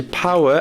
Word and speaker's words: power: je vous accorde seconds des fois on entend power mais ça se dit power avec le O comme un ouch et pour la cons